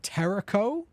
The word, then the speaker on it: Tericho: And Tericho, which rhymes with Jericho, which is also like a horror game.